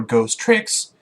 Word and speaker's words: Ghost Trick: lot of fun with this game number six ghost tricks Ghost Trick Phantom detective yeah that's how you